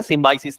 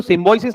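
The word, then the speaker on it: Symbiosis: मतलब एडमिशन हो गया, ओ अच्छा हो गया, सिम्बाइसिस नहीं है, क्योंकि वो सिम्बोइसिस नहीं बोलते, सिम्बाइसिस, है ना, इनकी प्रोनाउंसिएशन बहुत क्लियर होना चाहिए।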